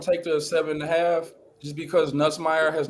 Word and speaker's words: Nussmeier: So Neisenmeyer. What? I'll be having a hard time pronouncing his name. Nussmeier.